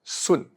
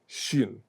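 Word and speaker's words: 巽: Xun used to be pronounced Sun. The old pronunciation is Sun. Not sun, of course, it's Sun. But now it is pronounced in Mandarin, in Putonghua only, Xun. In Cantonese, the pronunciation has not changed at all.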